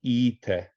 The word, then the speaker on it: 行って: So this is the principal exception in the group 1 verbs, that as it's iku, it should in principle be ite, but it's pronounced ite. So it's the one exception.